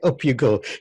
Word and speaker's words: UpUGo: overview I love this name by the way up you go give me a quick overview of you go